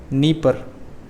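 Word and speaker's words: Dnieper: साथ ही यहाँ की 3 प्रमुख नदियाँ हैं, नीमान, प्रिप्याट और आपकी तीसरी है नीपर, DNIPER। ठीक है, यहाँ पर डी साइलेंट है। ओके, नीपर, नेमान, प्रिप्याट, नीपर।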